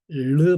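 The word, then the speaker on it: ρ: 르 발음이에요. 르. 그다음에 소문자는 이렇게 써요. 자, 그리고 이거의 발음은 제가 못 합니다. 제가 스페인어도 배웠지만이 발음을 못 해서 매우 수치스러워 했는데 R나 R 하나 다 약간 혀 이게 끝에서 트를 하는 거 있죠? 르 이렇게 르 하는 거 그 발음이에요. 사실은 원래는 그 발음이고 거기에 숨까지 섞어야 돼요.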